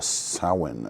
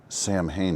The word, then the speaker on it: Samhain: the Trick-or- Treat Studios Halloween 1978 figure, the Sin Edition. That's right, I said Sin. That's how it's pronounced. But in honor of Donald Pleasants, we will say Sam Hayne edition.